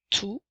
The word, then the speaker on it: tout: T, puisqu'encore une fois, le dernier T est une lettre muette. Alors, tout, comme dans je veux tout le gâteau et j'aime tout le monde.